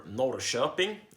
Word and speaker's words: Norrköping: I live in Norrköping, Sweden, or Norrköping, as it is pronounced in Swedish.